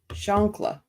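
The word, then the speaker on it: chancla: 911 call up oh I said it right shankla I have to think of the granny because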